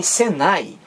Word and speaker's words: Senai: há uma diferença para SENAI em Senai eu não pronuncio cada letra separadamente não uma uma não eu não digo senai9 eu digo Senai Olha aí entrou no